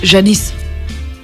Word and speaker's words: Yanis: âne parizon le reste yanis en grec se prononcent janice un riff peut-être qu'on